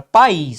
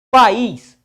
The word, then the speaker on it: país: Nós temos a palavra país, ó.